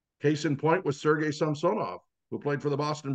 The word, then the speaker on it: Samsonov: He didn't care if they called him Samsonov or Samsonov, but Samsonov was the correct pronunciation because the middle syllable is always accented on a 3-syllable Russian last name.